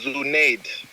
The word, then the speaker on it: Zuneid: about your last name okay it's pronounced as zunaid zunaid um that is